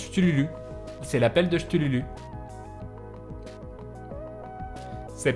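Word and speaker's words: Cthulhu: Ça se prononce Chtululu.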